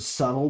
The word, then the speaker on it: subtle: Don't be Don't be somebody who like literally mispronounces the word subtle because they've only ever seen it spelled and never spoken. And then when you find out the B is silent, you are still going